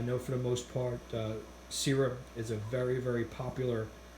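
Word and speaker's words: Sera: I know Sarah, or Sira, as it's pronounced, is a very well reputable German-based company.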